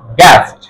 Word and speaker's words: guest: ই, কি হলো you silent হয়ে যাবে, ইউ সাইলেন্ট হয়ে যাবে। গা এ সা ট, গা এ সা ট, গ্যাস্ট।